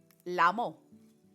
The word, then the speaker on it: LMAO: I said out loud, because that's how it's pronounced in my head when I see LMAO.